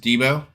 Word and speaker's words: Debo: out sir I'm dbo it's actually pronounced Debo okay Debo from the movie Friday Lo because that's uh